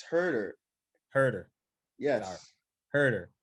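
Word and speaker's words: Herro: But thanks to lemon pepper, Hooter, and this Hawks team, they just Hooter?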